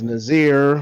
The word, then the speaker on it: Nasir: His name was Nazir, which is spelled Nasir. Mm-hmm. Okay. Nasir.